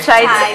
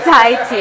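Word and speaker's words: Thai tea: I no wait is it no see I mispronounced it again it's not chai It's the Tai te I mispronounced it and I said it to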